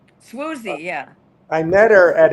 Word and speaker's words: Swoozie: Swoozie.